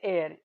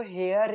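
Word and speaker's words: heir: फिर है एयर, इसको हेयर नहीं बोलते, इसको एयर बोलते हैं, और इसमें भी क्या है, वॉवल साउंड है, तो इसमें भी एन आर्टिकल आएगा।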